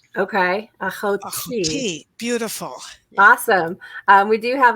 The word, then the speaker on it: Ahoti: Ahoti. Ahoti. Last emphasis on the last syllable. Okay. Ahoti.